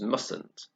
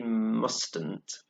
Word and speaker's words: mustn't: said in mustn't so we don't pronounce the first tea we don't say mustn´t because that's difficult to say we say mustn't so for example a